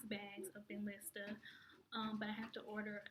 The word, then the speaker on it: Benlysta: That would actually get me my first 6 bags of Benlysta.